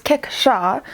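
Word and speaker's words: kickshaw: so for today the last word is cake show it is a noun and it is called pronounced as keksha it's 16th century english it is a dish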